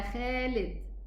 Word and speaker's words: Khalid: Now, we as Egyptians, we would say Ya Khalid, Kha, okay? And this is wrong pronunciation regarding the Quran and regarding the Arabic language, okay? So it should be Khalid, okay?